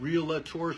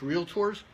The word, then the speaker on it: Realtors: from time to time real led tours there's no a in the middle it's real tours and also wrestling the